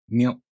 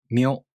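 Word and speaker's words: みょ: These are pronounced with the M sound for mi plus a, u, o.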